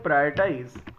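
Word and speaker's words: prioritize: और इन दोनों में प्रोनाउंसिएशन का बड़ा खेल है। एक वर्ड है प्रायोरिटाइज और एक वर्ड है प्रियोरिटीज। तो दोनों के प्रोनाउंसिएशन की आप प्रॉपर प्रैक्टिस करिएगा। This is प्रायोरिटीज and this is प्रायोरिटाइज।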